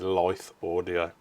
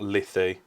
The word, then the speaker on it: Lithe: wrong I do apologize it is Life audio not lithy not lith air Life audio so sorry